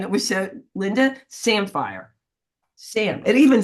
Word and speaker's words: Samphire: Samphire. Oh, I said, oh my goodness, I said it wrong again. I said sapphire.